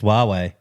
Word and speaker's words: Huawei: sponsor the Raiders was it's Huawei yeah Huawei I don't know how you say it huawe h yeah